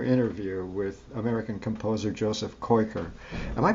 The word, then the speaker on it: Koykkar: with American composer Joseph coiker am I pronouncing your name okay I should do more cards uh if you just say koi car so the active is there thank you thank you